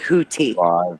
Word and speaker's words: Houthi: I don't know what redeeming moments is, but they say hoodie. Um, keg keg art. Whatever that is. Whatever this is. They're all hoodie. UK Defense Journal calls him hoodie. Daily Tribune calls him hoodie. Ministry of Foreign Affairs calls him hoodie. That's the Ministry of Foreign Affairs. USNI news. I would like to see some news reports. Um hearing them call it Hooti.